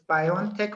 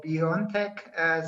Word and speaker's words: BioNTech: to clear it up i think it's pronounced biontech one of our producers confirmed is that right are we pronouncing your company name right yeah you can you can pronounce it it's biontech or beyondtech so it is it is it is we